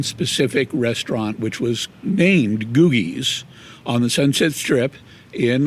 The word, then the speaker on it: Googie: and I do have to mention it is pronounced googies googies not not gujis okay and I get that question all the